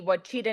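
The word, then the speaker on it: Ouachita: you know the the I always pronounced it incorrectly it's like the wachita national forest um which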